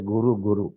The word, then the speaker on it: गुरु: गुरु गुरु नाऊं नाऊं Here it is given gura gura, but pronouncing you say it as guru guru. That is most correct.